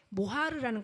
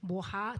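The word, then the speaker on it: מֹהַר: 어 신랑이 그 신부에게 가져갈 때 모하르라는 걸 가져가죠. 모하 또는 모하르 이렇게 발음하는데 그거는 그 예물이란 뜻도 있지만 갑이란 의미도 돼요.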